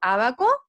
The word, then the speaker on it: ábaco: Yo acentúo la voz, niños, el tono de voz en la sílaba o en la vocal A, ¿cierto? Disculpen, acá se nos cambió.